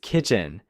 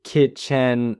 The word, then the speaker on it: kitchen: and kitchen is kitchen. Many learners mistakenly say kitchen stressing the second syllable.